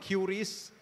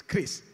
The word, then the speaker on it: QRIS: I still remember watching in the TV Pak Perry explaining it is not QRIS, it is not QRIS, it's CRIS.